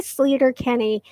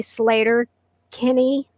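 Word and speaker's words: Sleater-Kinney: was sleeter kenny and i say sleeter kenny it's really slater kenny but i found out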